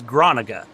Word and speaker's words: Groninga: Steve's last name is Groninga. It's like Veronica, but Groninga.